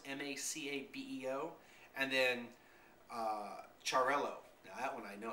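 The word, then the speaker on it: Xarel·lo: And that's really to make sure that in the Catalan language or dialect, you don't make the two L's like a Y sound, you actually pronounce each L.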